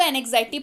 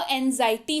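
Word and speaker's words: anxiety: कई लोग इसको एनेक्साइटी पढ़ते हैं, कृपया आप इसको एनेक्साइटी ना पढ़ें। इसका जो उच्चारण है वो एंजाइटी होता है।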